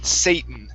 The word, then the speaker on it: Satan: that word out So instead of Satan it's Satan Satan Uh Satan Satan There